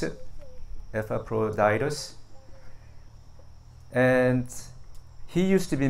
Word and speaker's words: Epaphroditus: That's how you pronounce it. Epaphroditus.